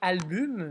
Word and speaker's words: album: Dans album, la difficulté, selon moi, c'est qu'on écrit album, mais on prononce album.